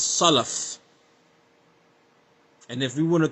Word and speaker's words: Salaf: Salaf. No, brother, it's Salaf.